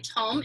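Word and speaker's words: tomme: mm II a lot of people think it's pronounced timaya but it's actually tome if you were in Italy you would call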